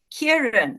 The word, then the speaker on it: Kieran: on my list is kierin am I pronouncing that correctly or is it Kieran y Kieran is Kieran is fine um so my name